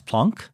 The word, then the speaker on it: Planck: And the problem was semi-solved by Max Planck, whose name I insist on pronouncing in the Germanically. Way he would have pronounced it, even though I don't say Einstein, so I'm not consistent.